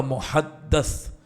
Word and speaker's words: محدث: میری امت کا محدث, میم ہا حلوے والی, دال تشدید والی, اس کے اوپر زبر, اور سا, محدث صحیح تلفظ ہے.